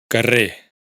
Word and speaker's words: carrer: Por otro lado, esta omisión de la R afecta especialmente a las palabras monosílabas y las agudas, es decir, las que tienen el acento en la última sílaba. Carrer, calle.